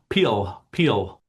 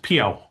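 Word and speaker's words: beul: don't speak Gaelic, but the word for mouth, spelled B-E-U-L, I believe is pronounced peel. And I gather that in sort of Canadian varieties of Scots Gaelic, it's commonly pronounced piao. We have this more sort of W-like sound.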